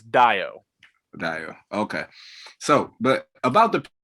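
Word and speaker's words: Dayo: I know for a fact his first name is spelled, it is pronounced as if you were looking at it DYE -O. So it's Dio.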